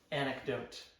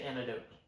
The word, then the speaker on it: anecdote: Okay, how do you say the first word? Anecdote. Uh, where do you say antidote? No, it's anecdote.